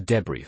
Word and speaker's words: debris: What about the debris and segue? Debris has a silent s sounding like db r e.